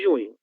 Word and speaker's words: junho: abril, abril, maio e junho, né? Na palavra junho a gente tem o dígrafo NH, que é equivalente o seu som ao som da letra N do espanhol, certo?